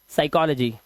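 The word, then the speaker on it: psychology: पी को एस से पहले पी आया। इसे पढ़ते हैं हम क्या? साइकोलॉजी।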